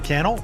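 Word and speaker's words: Cannell: my name is canel rhymes with YouTube channel and I can't wait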